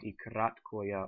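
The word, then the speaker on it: и краткое: Then the next 5 we have, this one is called ikratkoya, or short I.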